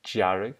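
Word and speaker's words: dearg: a brown red so this pronounced jarek because the d is touching a slender vowel so this is done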